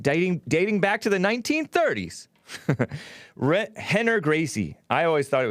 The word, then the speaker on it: Rener: And it's about the Gracies, or this Henner Gracie, which is spelled with an R instead of an H, but it's pronounced Henner.